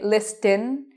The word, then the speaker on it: listen: I do not say listen. I say it with an S, but no T.